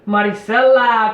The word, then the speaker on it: Maricela: Is it Marcela? Maricela Cornejo.